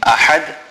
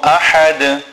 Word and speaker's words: أَحَدٌ: Then in ahad, the ha is a big ha, which is pronounced from the center of the throat.